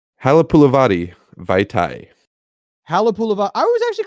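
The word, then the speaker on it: Halapoulivaati: Halapulavati Vaitai.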